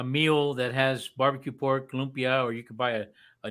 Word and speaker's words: lumpia: Oh, Limpio. Lupia. Limpio. Uh-oh. How do you pronounce it, Eddie? Lumpia. Lupia. Lupia? Lumpia. Yeah, it's an A at the end, not an O.